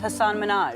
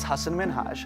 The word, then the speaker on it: Hasan Minhaj: Everyone that says your name says Hasan Minhaj. Yeah, but the real way you pronounce it, it's Hasan Minhaj.